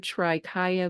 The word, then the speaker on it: trikaya: say correct Traya Traya oh my gosh no everybody does that it's I don't know why like we want to in English we want to like make the consonant go with the syllable but it's just Traya three bodies okay unreasonable Joy Awakening